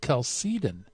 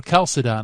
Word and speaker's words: Chalcedon: Leo and the Council of Kelsey Dhin and or Kelsey Don I know people pronounce it different ways but he's got to